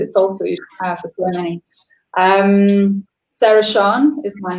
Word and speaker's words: Sara Siân: Everyone calls me Sara Siân, but it's spelled so I pronounce Sara Siân.